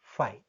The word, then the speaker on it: phi: Pronunciation, word pronunciation phi, but actually spelling is not this one, phi or phy like that, but it is read as phi.